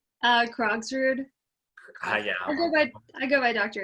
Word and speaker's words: Krogsrud: Krogsrud.